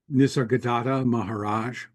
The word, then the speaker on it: Nisargadatta Maharaj: But no, you pronounce it, so I don't make a fool of myself. Nisargadatta Maharaj.